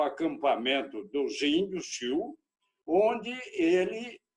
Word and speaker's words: Sioux: E eles estão no território dos índios Sioux, pronuncia-se Sioux, do norte dos Estados Unidos, mas escreve Sioux.